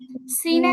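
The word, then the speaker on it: س: তারপরটা সিন চিন্ত সহজ একইভাবে জিহবার আগা নিচের দাঁতের পিছনে লাগবে কিন্তু এখানে হচ্ছে বাতাসটা বের হবে এরকম একটা আওয়াজ হবে খেয়াল করি আগে আমারটা শুনেন তারপরে পড়বেন এরকম একটা আওয়াজ হবে মানে শীষ জাতীয় একটা আওয়াজ হবে বাতাসও বের হবে আর সিনটা হচ্ছে সদের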